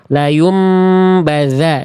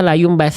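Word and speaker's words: لَيُنْبَذَنَّ: tsan ya tadi ya harusnya la yumbadza dza tapi saya baca la yumbasa Tsa.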